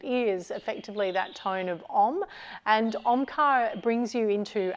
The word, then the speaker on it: Om: And that tone is broken down into 3 sounds, and you may have heard that in that example of Omkar then. A, or that first syllable, U, which is the second, so you actually change the shape of the mouth so that you can create that tone.